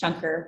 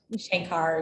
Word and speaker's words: Shankar: be an event where my last name is pronounced shunker reliably and not shankar shanker um so i really